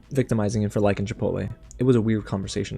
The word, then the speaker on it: Chipotle: his favorite which is Chipotle and yes it's pronounced Chipotle uh but it feels shallow it does not